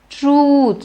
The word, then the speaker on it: truth: truth is God now it is not truth it is ooh although in truth you have the you so don't think that because it's you make it truth it's not truth it is truth stretch it elongate it do we really